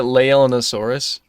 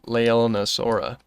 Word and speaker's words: Leaellynasaura: Was I pronouncing it leaellynasaurus? I hope I wasn't. It's leaellynasaura. I hope I wasn't pronouncing it incorrectly.